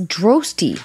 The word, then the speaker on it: Droste: i didn't even know your name was droasty rhymes with toasty isn't there like a